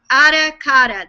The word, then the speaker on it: Ara Kara: And the other word is aracata. That's how it's pronounced.